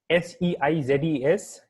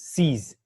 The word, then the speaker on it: seize: S-E-I-Z-E-S, and the pronunciation is seize, S-E-E-Z. So if you have to pronounce this word, you have to pronounce it like S-E-E-Z, seize.